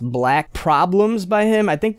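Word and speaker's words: 6LACK: not heard of black his name is 6 l a c k but it's meant to be pronounced black Problems by him I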